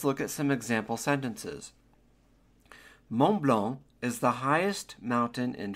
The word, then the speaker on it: Mont Blanc: So, Mount Blanc in French is pronounced le Mont Blanc. Do not pronounce the final T on Mont or the final C on Blanc. Le Mont Blanc.